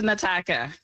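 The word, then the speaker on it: N'Taka: My name is Nataka.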